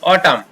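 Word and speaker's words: autumn: जैसे इसको पढ़ेंगे AU अ, TU ट हो गया, म, ऑटम, यहाँ पर न रह गया।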